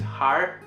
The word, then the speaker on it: 할: But when they say like 제가 할 수 없는데, this har, this thing here, they actually pronounce it as like R, like har 수 없는데.